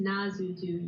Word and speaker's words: Nazutu: Also, Kyle, you keep saying Natsutu, it's just Nazutu. You keep throwing in an extra T.